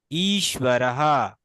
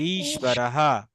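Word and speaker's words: ঈশ্বরঃ: এখন ঈশ্বরকে ভাঙলে আমরা কি পাচ্ছি? দীর্ঘই পাচ্ছি। তাহলে ই অর্থাৎ এটা একটু টেনে জোর দিয়ে বলতে হবে। এটা কিন্তু দীর্ঘ ইকার, এবং এটা হচ্ছে আপনার মহাপ্রাণ, তাই না? অর্থাৎ এটাকে টেনে বলতে হবে। ঈশ্বরহা, এভাবে বলতে হবে, ঈশ্বরহা। ঈশ্বরः তালব্যস্যর নিচে ব যুক্ত আছে, কিন্তু এটা হচ্ছে ওয়া, ওয়া, ঈশ্ব, ঈশ্বরহা।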